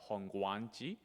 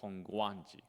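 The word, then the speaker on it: Hongwanji: pronunciation is a so although there is a w the W is actually silent we don't have to pronounce hongi we don't have to say like honganji you know honganji just say we can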